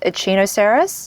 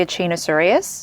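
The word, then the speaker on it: Echinocereus: of the names wrong I say serus and then I will say troser when it should be tros serus same with ainos serus when it should be aino serus don't even get me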